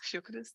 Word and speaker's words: Fiocruz: experience at, I'm going to mess up the pronunciation, but Fiocruz? Fiocruz, that's perfect.